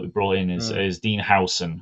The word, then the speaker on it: Huijsen: brought in is Dean Hudson. It's spelt Huijsen, but it's pronounced Hudson apparently.